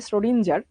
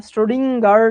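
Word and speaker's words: Schrödinger: স্টোরিজিং উচ্চারণটা খুবই বিদঘুটে নরমালি আমরা যেরকম বলি স্রডিঞ্জার ঠিক ওরকম না স্ট্রোডিংার টাইপে জেনে কেমন উচ্চারণ করে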